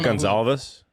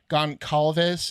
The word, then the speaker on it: Goncalves: Gonzalez? Goncalves. It's Calves.